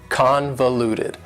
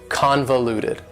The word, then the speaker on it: convoluted: for you is convoluted convoluted also has four syllables and the stress is on the first syllable convoluted that second syllable again has that schwa sound that reduced vowel sound convoluted convoluted if something is